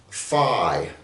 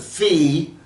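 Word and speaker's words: phi: get the Greek letter fi now some people pronounce this in the world they pronounce it Fe okay in the western world it's pronounced fi my friend Jack says fo where he comes from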